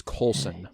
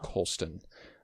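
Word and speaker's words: Colson: It is Coulson Whitehead, not Coloulston.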